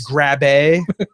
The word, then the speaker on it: Grabbe: Really, Grabby sir? Hands. Really, your name is Grabby Hands? It's Grabbe. Grabbe. Thank you very much. It's German.